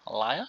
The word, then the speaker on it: Elia: World Tour in Australia Elijah Elia Elia is how you pronounce it now uh we got